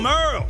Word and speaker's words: Merle: Hey there, I'm Merle, spelled like Hurl.